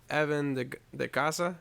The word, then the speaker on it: Evan De Ycaza: We have Evan De Ycaza.